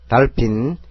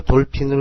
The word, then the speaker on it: dolphin: 달핀, D는 디귿, O는 아, L은 리얼, H는 피읍, I는 이, N은 니은. 그래서 달핀이 됩니다. 이걸 돌핀으로 읽으면 영국식 발음이 됩니다.